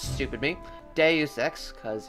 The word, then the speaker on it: Deus Ex: back to deus ex that game have been pronouncing wrong the best shoot webisodes calling it dost text stupid me deus ex cuz it's a days extract as the professionals